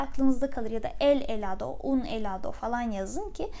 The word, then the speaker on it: helado: Dondurma İspanyolca'da helado. Helado diye yazılıyor gördüğünüz gibi. Lütfen telaffuz çalışmasını yapın.